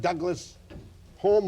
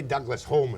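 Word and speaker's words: Douglas-Home: He was whipped to dear old Harold Macmillan and to Sir Alec Douglas Hume or Hume. Hume. I think that's a snob pronunciation. I think we'd say Douglas Home in The Scotland.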